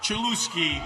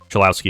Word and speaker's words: Cholowsky: And not just because Rob Manfred completely botched pronouncing his name. Rock Chelouski, a shortstop from UCLA.